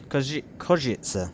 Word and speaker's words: Košice: Košice, apparently it's pronounced, is down here in the south of Slovakia. My first venture here, it sounds very much like Užice, if anyone's heard of that.